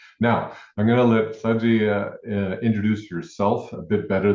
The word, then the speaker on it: Shadgie: For those who don't know me, my name is Saji. And yes, in English people will say, but Saji, the in my name is silent. I oftent times say Saji like Sagittarius.